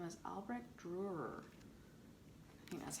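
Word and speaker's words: Dürer: oldest self-portraits this guy his name is albert durer that's how you pronounce it but he painted himself of quite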